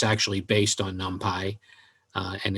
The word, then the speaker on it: NumPy: So Numpy, and that's the way you say it. I think when I originally started, I called it Numpy, but it's Numpy is the way they pronounce it.